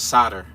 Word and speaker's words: solder: to somebody soldering gun but the way it's pronounced is solder that's how I pronounced it ever since I